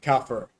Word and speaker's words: kafir: Kafir. Bro couldn't even pronounce it right.